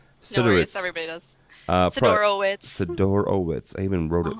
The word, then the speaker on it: Sidorowitz: Sidorowitz. I even wrote it phonetically.